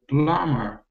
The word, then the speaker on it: plumber: would never become a plumber grit 80 very good yes yes yeah and well pronounced I have to say because this be in plumber is silent yeah I think most